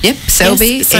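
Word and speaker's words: Selbii: Yep, Selby. Yes. So it's spelt S-E-L-B-I-I for those people who want to look it up as soon as I start playing the song.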